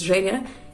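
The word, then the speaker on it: Genya: If this is supposed to be the Russian name, this is actually a Russian name, it's Zhenya, it's my name, so that's why I'm so excited.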